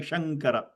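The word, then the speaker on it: शङ्कर: But when you're saying the name Śāṅkara, okay, your lips don't close at all because the anuswara change into nga sound. Śāṅkara, Śāṅkara.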